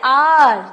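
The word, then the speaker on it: hour: एन लगेगा जैसे एन आर तो ये हमने एच जो है वो साइलेंट है हालांकि स्पेलिंग एच से है बट साइलेंट है तो हमने एन लगाया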